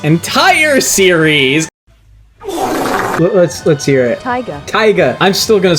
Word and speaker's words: Taiga: Taiga." Because apparently, A, I'm saying it wrong. Tiger.